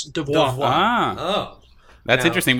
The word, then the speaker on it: DVOA: So it's actually from what I heard, it's pronounced the same in French as devoir.